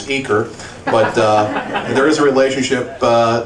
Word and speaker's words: Uecker: Okay, those of you who are from the greater Cincinnati area might know that we pronounce it on this side of the Mississippi as Uecker, but there is a